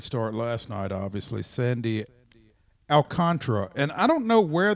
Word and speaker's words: Alcantara: the pronunciation so maybe i still think it's alcantara i don't know how it's not alcantara but they persist in saying alcantara or alcantara one of the two but it's not there's an extra a there is that isn't being pronounced yeah it's not true